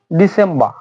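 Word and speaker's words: December: শেষ হচ্ছে ডিসেম্বর। ডিসেম্বর আর silent থাকতেছে, এখানেও আর সাইলেন্ট থাকবে।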